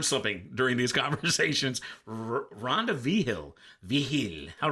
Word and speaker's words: Vigil: Vigil. That's cool. What's the etymology there? What is that? Where does that name come from? So that's a Spaniard last name. Vigil. From Spain. Wow.